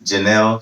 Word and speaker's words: Jennelle: guest here with us today her name is janelle chan is that how you pronounce this yes okay yeah 28 hr professional